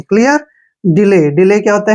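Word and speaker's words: delay: एक वर्ड और देखिए डी ई एल ए वाई अब यहां पर डी का उच्चारण क्या करते हैं ड और ई को हम ई की मात्रा ही पढ़ेंगे एल को ल पढ़ेंगे और ए वाई को हमने क्या पढ़ना है ए की मात्रा डिले डिले क्या होता है दो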